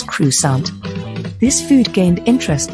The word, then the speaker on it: croissant: glorious presence of croissants a famous french bread pronounced as crusade this food gained interest